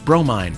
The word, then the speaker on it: Bromine: and the Piggy Runt, Bromine, pronounced Bro, Mine, Main Humdinga, Mother of